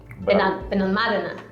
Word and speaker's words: Benalmádena: How do you pronounce it? Benalmádena.